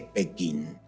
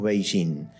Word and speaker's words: Beijing: Liceo como quieran llamarle me enseñaron que la capital de China es pequín Y por qué ahora des hace tantos años a unos años hasta aparte le decimos beijin bueno porque en realidad nunca cambió la ciudad siempre fue beijin significa Norte Shin capital